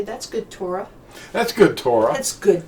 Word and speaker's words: Torah: The word Torah means, or Torah, sometimes they put the emphasis on the second syllable.